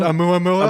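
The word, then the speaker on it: ʻOumuamua: Is that how you pronounce it? A Muamua?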